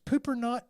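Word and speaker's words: Poopernaut: the Sunridge Park Community that is pooper not Cor it's pooper not court please tell me how this is spelled p o o p e r n a u t pooper not I choose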